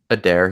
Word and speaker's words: Adair: like I just butchered it's a dare he's a dare sorry but so yeah